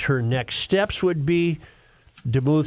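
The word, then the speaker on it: Demuth: GOP speaker designate Lisa deuth is that how you say it or is it deou I go with deou yeah I think you're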